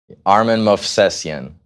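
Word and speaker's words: Armen Movsesyan: All right, well, I'll let you pronounce it. Armin Movsesian.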